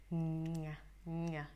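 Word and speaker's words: ง่าย: Oh, vous devez prononcer comme ça. Ngai.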